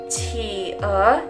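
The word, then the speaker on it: 企鹅: Qi e. Jadi qi ini kita tekan bacanya pakai H.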